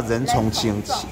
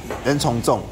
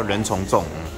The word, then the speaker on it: 人从众: 是叫仁重清？仁重重。哦，好，谢谢。好，叫仁重重。